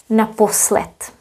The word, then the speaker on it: naposled: If you say naposled, D will be pronounced as T, naposled. Naposled, as well as here, teprv. So keep in mind what we do in Czech, that some consonants at the end will be voiceless.